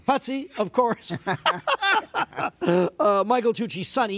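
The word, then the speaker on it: Putzie: Putzi. Putzi, of course.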